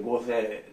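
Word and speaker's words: 御所: 御所と書いて御世と読みますが、御世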